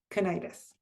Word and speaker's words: Kurnides: Ronald Warton and Margaret I apologize we have been saying your name wrong but it's Margaret Kennitis.